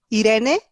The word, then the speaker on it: Irene: Irene, that's how you pronounce my name in Spanish.